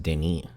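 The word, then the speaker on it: Denis: And somebody on TikTok was like, "Man, calling him Dennis is crazy."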